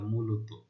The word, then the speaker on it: মূলত: হ্যাঁ, তো এরকম শব্দের অন্ত অ, অর্থাৎ এখানে যে শেষের অ, ত এর সাথে জ রয়েছে তা ও এর মতো উচ্চারিত মূলত। ঠিক আছে, মূলত।